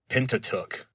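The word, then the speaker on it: Pentateuch: And so in modern English pronunciation we just say pentatuk.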